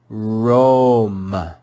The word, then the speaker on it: Rome: we read this word we know that any time the vowel o is followed by a short e it makes the sound o let's read this word together rome rome rome we learned